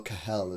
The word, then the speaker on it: Kehl: Borussia Dortmund director Sebastian Kehl, right, I'm going to go Kehl as the way you say his name, on Erling Haaland.